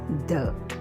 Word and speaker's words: the: if a consonant sound follows it it is pronounced as the for instance the Sun the day and the